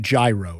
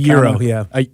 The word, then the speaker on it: gyro: Euro. It's It's pronounced euro. It's spelled gyro. G Y R O I think is what it is, but it's it's euro.